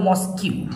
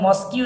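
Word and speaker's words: mosque: যখন স্টুডেন্টদের পড়ায় তখন স্টুডেন্টরা কিন্তু এটা ভুল করে বলে মস্কিউ তো স্টুডেন্টরা মস্কিউ না এটা এটাকে বলা হয় মস্ক উচ্চারণটা করবে মস্ক এইটা তো তোমাদের সুবিধার্থে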